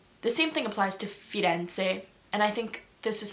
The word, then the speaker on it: Firenze: I was saying Firenze like with a very American Z. And one day one of my close friends in Italy said to me, "Why do you say it like that? It's not Firenze, it's Firenze." It's almost like that Z sound is actually a TS.